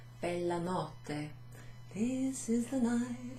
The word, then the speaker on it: notte: Ci sono due T, there's two T's in it. And with, like lots of words in Italian, if there's two consonants, you sort of pronounce it almost twice. So, notte.